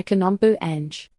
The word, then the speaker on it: Kanom Buang: If you want to say it like a local, try Kanom Buang. Say it with a soft KH and a clear Buang at the end.